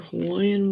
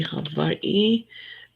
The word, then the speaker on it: Hawaii: Yeah, sometimes they say Hawaii because the V in Hawaiian is often pronounced, the W in Hawaiian is often pronounced as a V.